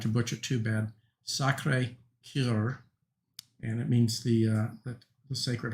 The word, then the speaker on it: Sacré-Cœur: I'm not good at speaking French, but I believe it's pronounced, I'll try not to butcher too bad, Sacré-Cœur, and it means the Sacred Heart.